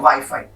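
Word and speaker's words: Wi-Fi: French में हम इसको वीफी बोलते हैं और इंग्लिश में हम इसको बोलते हैं वाईफाई।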